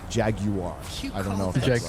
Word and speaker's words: Jaguar: Jaguar. How do you say it? Because you say it properly. How do you say Jaguar? Jaguar. Jaguar.